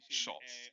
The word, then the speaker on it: Scholtz: Scholtz.